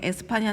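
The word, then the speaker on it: España: 스페인 인건 다들 아시죠 스페인은 영어식 발음 이구요 에스파냐 는 스핀 말로 s 파 4 라 5 부르는 거야 뭐 좀 놀랍네요 물질적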